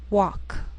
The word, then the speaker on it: walk: Sometimes L can be silent, so you have to be careful.